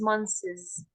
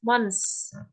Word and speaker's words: months: school five months ago please don't pronounce it as Mones this is incorrect pronounce it as and at the end it's okay so it's months months okay not Mones so five months ago